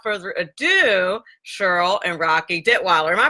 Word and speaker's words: Detwiler: more and without further adieu Cheryl and rocky did Weiler am i pronouncing that correctly hello yes you are actually